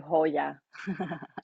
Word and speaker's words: joya: used to call you Hoya, I do remember that. Yes. and Well, that's how you say it and in the Spanish. Joya just wouldn't come out right. Hoya means jewel in Spanish, Mm-hmm.